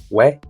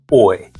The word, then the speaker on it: 외: The formula is o and plus e, but sounds like we. Important thing is that don't say oi. Start with o, glide forward, but stop just before you reach e.